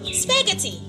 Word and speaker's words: spaghetti: Letter H is silent in the word spaghetti.